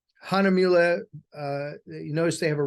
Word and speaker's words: Hahnemühle: And as an American, I'm not even really pronouncing it correctly either, because it's hard for us to get our tongues wrapped around U's with umlauts on them. Hahnemühle, you notice they have